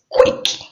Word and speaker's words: quick: Just say quick, queen, quit. Say it's really easy. It's just like pronouncing the k and woo together.